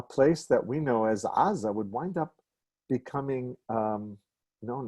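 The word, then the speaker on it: עזה: at all especially when in modern hebrew aza is um it begins with a vowel and we don't hear the first consonant at all the reason is actually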